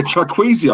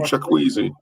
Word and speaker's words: Chukwueze: Yeah, Chukwueze, I think his name is. Samuel Chukwueze.